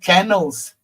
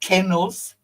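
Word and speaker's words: canals: I said canels, not kennels. Canels. I don't know how you guys pronounce it.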